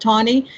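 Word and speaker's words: Taney: tawny it's spelled ta n ey but it's pronounced Tony and we in Maryland have the distinction of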